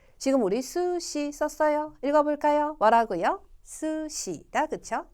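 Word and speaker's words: す: 이 글자는 수보다는 스에 더 가까워요. 스에 가까워요. 여러분, 스시지 수시 이렇게 안 하잖아요. 그렇죠? 스시고요. 써볼까요? 이 글자 수, 이 글자 시. 지금 우리 수시 썼어요.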